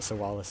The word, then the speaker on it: Sowales: Which is the canon pronunciation, by the way. I mean, you can call it Sowales if you want.